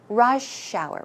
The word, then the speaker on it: rush hour: Hour Rush Hour H try to pronounce it smoothly as if it's one word so try after me Rush shower Rush shower so it